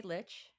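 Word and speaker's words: lich: And then you wake up in this weird it's called like a litch house. Am I pronouncing that right by the way, litch?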